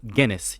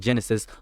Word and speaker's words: Guinness: Poison online, and I watched your Toriko reviews, and you kept mispronouncing the name Guinness. You kept saying Genesis the wolf, and I kept.